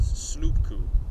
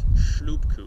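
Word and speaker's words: шлюпку: But he mispronounces the word for dinghy as slupku, and not shlupku, as it should be.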